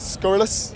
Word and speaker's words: Scurrilous: which is, I need to have a look, Scurrilous. Yes, sir. It is good. I just want to make sure I pronounced that right.